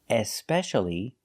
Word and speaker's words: especially: designed so what's especially if I put an e at the beginning and I pronounce the E especially this means more than